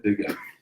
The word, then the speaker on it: Begaj: En fait, Begaï, ça se prononce dans sa langue maternelle comme un Y. Donc je l'ai prononcé, je pense, dans la langue albanaise, c'est bien Mohamed Begaj, mais ça se prononce Mohamed Begaï.